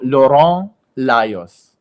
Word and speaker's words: Lorand Lajos: Many people say my name wrong or they're afraid to saying it. So, Lauron los Thank you.